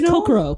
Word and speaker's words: Kokoro: So it's Kokoro. Kokoro. Oh, I say it Kokoro, but I'm French, so I mispronounce words all the time. Same here. I put the accent on the wrong syllable in English.